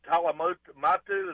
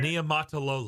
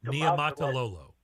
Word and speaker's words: Niumatalolo: is former Navy coach Ken Talamatu. Is that the way you say his name? Ken He is going. Niumatalolo. Go ahead. Ken Niumatalolo.